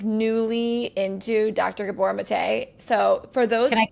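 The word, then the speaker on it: Gabor Maté: It's Gabbor Mate. Oh my gosh. Okay. I've been saying it wrong. Okay. So Gabbor Mate.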